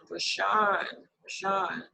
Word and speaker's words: Rashaann: He's everywhere, and it's spelled RASHAANN_Karma, KARMA. Rashawn.